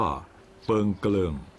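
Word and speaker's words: เปิ่งเคลิ่ง: ประวัติ มา ยาว นาน ชื่อ ของ หมู่ บ้าน มา จาก ภาษา มอญ ซึ่ง ออก เสียง ว่า เปิง เกลิง มี ความ หมาย ว่า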